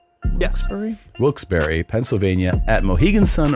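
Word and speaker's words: Wilkes-Barre: Wilsbury.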